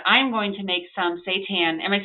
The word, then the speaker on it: seitan: And I'm going to make some seitan. Am I saying it right? Seitan?